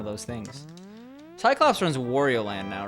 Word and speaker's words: Wario: What, Wario rhymes with Mario?